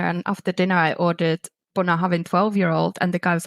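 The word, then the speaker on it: Bunnahabhain: Gaelic consultant, yes, and he said how to pronounce it, and then also from David. So I've started to say Bunnahaven.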